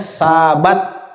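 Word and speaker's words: שבת: baca langsung saja ya huruf pertama itu huruf Sinin nah huruf kedua adalah huruf bet atau ba huruf ketiga itu huruf tet atau Ta Jadi dibacanya Sabat ya dibacanya Sabat sabaton khulakem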